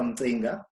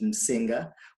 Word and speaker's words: Mzinga: My name is Mzinga. Most people pronounce it Msinga, but it takes some time to get a little bit of a click into it.